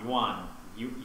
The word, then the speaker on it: yuan: Chinese yen? Is it still a yen? Yuan. Yuan. What is that? Yuan? Well, it's spelled Y-U-A-N.